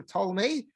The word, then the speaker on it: Ptolemy: there has as king Ptolemy Ptolemy and I think it's always a silent P I don't I'm not I'm not aware of anyone pronouncing that P but uh that's how